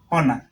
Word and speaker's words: honor: Now, when you look at these words, hour, honest, honor, hair, the first letter is silent.